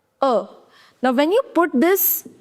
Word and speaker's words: en: Now, N, you are not going to pronounce. So, it is a little nasal sound.